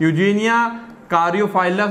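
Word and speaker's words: Eugenia caryophyllus: Birds है ना, flower birds होते हैं ऑफ यूजीनिया कारियोफाइलस ऑफ फैमिली माइटेसी, ठीक है ना, ये थोड़ा सा नाम प्रोनाउंस करेंगे, यूजेनिया कारियोफाइलस, यूजेनिया कारियोफाइलस, ठीक है ना।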